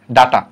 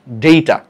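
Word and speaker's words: data: ডাটা অর্থাৎ প্রথম অংশটা টি পর্যন্ত ঠিক রাখছি ইউএম এর জায়গায় জাস্ট এ বসা দিছি প্লুরাল হয়ে গেছে ডাটাম ডেইটা উচ্চারণটা ডেইটা বা তুমি ডাটা উচ্চারণ কর আপাতত সমস্যা নাই অপারকুলাম অপারকুলা ওভাম ওভা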